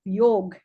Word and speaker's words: yog: you talk to us about the essence of yog as he calls it and as it is rightly pronounced should be rightly pronounced Sandeep kapila is